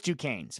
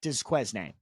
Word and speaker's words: Duquesne: I know it's Duquesne's, but it's spelled and it looks like Desquesne, but it's Duquesne's.